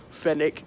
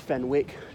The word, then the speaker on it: Fenwick: one of the uniform fennec it's not pronounced Fenwick Jo Malone dadada ooh